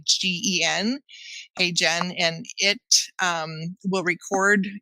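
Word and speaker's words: HeyGen: demo on LinkedIn I used a software called hey Jen it's spelled h y geen hey Jen and it um will record whatever your messages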